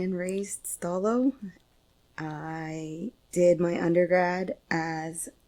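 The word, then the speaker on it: Stó:lō: letter before it so stalo without the colon would be stal but with the colon it elongates the o sound before it so stal thank you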